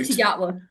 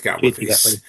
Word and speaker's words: Gatwa: I can never I never pronounced it right. Gatwa nut Gatler second Gatler Gatler his second and probably final.